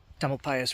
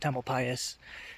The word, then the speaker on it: Tamalpais: tummel pasas Conservation Club I think I said TL pasas wrong before that's how you say it's Mount templ pasas they just call it